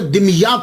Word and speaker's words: दिमियात: तो ये सैयद जमालुद्दीन साउजी फिर वहां से मुंतकिल हो गए, दिमियात चले गए। इसके बहुत सारे प्रोनाउंसिएशन हैं, लेकिन सबसे जो आसान है वो मैं आपको बता रहा हूं, दिमियात।